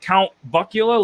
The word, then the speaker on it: Count Buckula: I mean, is it Count Buckula, like Count Chocula?